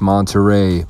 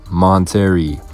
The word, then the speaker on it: Monterey: and she still doesn't know that the g is silent what was that talking about again you're right it's monterey but people call it monteri this other comment has illinois and i know